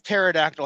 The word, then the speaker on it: pterodactyl: Why did Why Why does pterodactyl have a P? Does it really have a P? I didn't know that. I don't know how to spell it. I'm just saying it. I don't know. It's definitely spelled with a P.